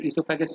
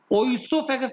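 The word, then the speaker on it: oesophagus: आप लोग trachea and इसोफेगस यूज करेंगे, ओइसोफेगस नहीं बोलेंगे, इसोफेगस ओ साइलेंट है।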